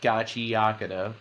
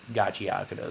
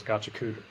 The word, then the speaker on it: Gachiakuta: All right but um yeah so it's actually pronounced Gachi Yaka um there was a panel at anime expo